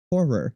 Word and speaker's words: horror: horror a horror film that word has always tripped to me up horror it's two syllables it's weird isn't it